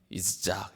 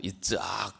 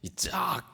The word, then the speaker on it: 이삭: 이삭 이삭 히브리 발음으로는 이작 이짝 이렇게 발음을 억수로지게 하셔야 됩니다 부드럽게 이삭 이게 아니고 이짝 이렇게 어 이삭을 주십니다